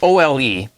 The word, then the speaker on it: Ole: Now, it's spelled O-L-E, and in my country, that's pronounced Ole, so that's what I'm going to call him.